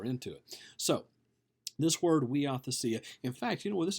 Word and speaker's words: huiothesia: it looks like uh looks like you know Huey othea okay but it's pronounced we ought to see it now what this is this is a Greek